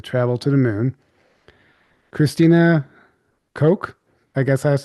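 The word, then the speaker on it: Koch: Christina Ko, I guess that's how you say it. Yeah, Coke. Like the Coke.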